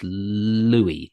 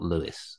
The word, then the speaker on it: Louis: Okay, I'm going to go for, I reckon it's Louis, not Lewis. Am I wrong?